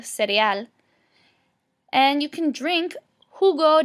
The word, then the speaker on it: cereal: You can also eat el cereal, which looks exactly the same in English as cereal, but in Spanish it's pronounced el cereal.